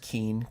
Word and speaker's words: Keane: I think his name is pronounced Keane.